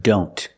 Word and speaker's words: don't: we see the word don't a lot of times the tea and don't is silent examples I don't know